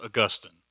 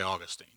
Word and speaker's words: Augustine: It's pronounced Augustine, but I'll let you say Augustine.